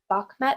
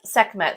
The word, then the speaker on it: Sekhmet: And I am stitching, is it Bakhmet? Is that how you pronounce it? Sekhmet? Sekhmet, sorry. Sekhmet, yeah.